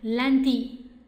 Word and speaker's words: lundi: 好，一起来，lundi， lundi，好，un 的发音哈，lundi，好，星期一。